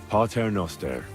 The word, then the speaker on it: Pater Noster: Pater Noster.